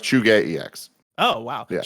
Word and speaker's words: ZhugeEX: It's pronounced Chuge EX.